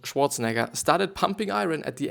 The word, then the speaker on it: Schwarzenegger: So yeah, there's a picture from Arnold Schwarzenegger, which is actually the German, Austrian pronunciation, or Arnold Schwarzenegger, started pumping iron at the age of 15.